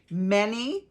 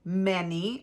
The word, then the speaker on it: Mene: This is the inscription that was written: Mene, Mene, Tekel, Parsin. So it's spelled M-E-N-E, Mene, comma, many, M-E-N-E, comma, Tekel, Tekel, comma, Parsin, Parsin. Here's what these words mean.